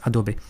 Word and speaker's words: Adobe: Bon, Adobe, Adobe, on dit Adobé, on dit Adobe, les brav de le prononcer en français, en anglais. En français, on dit Adobe. Les anglo les anglo-saxons généralement disent Adobé, mais bon, peu importe.